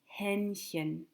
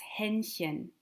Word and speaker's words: Hähnchen: To say chicken is das Hähnchen. Das Hähnchen. Hähnchen. Hähnchen.